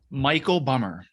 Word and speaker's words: Michael Bummer: you how do you say your name it's Michael bummer Michael bummer okay see he's got a couple of different ways that he goes so I wanted to make sure so let me tell you about Michael bummer this is so cool he's considered himself a